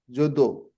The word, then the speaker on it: Jadu: the same tongue same So Jadu is pronounced as judo and pa padma padma is flower lotus as puo puo.